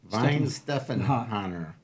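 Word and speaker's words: Weihenstephaner: Weinstephaner? The W sounds like a V, so Weinstephan. Weinstephaner.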